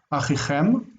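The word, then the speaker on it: אֲחִיכֶם: Achichem, notice that this syllable reduces. Achichem, because the accent's on the end.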